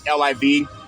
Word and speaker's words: LIV: lot of money called liivv is pronounced as livv as live free and it's not an acronym the name was created